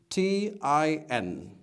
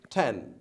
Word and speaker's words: ten: t I N and this is not ten this is tin tin but this is ten I'll give you a tips another lot to forget 10 10 is like pen unlike hand you know what a